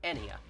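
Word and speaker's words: Ennea: And if you're curious, her other daughter, since it's never said in the game, according to the Q&A, is named Enya. I probably butchered the pronunciation, spelled E-N-N-E-A.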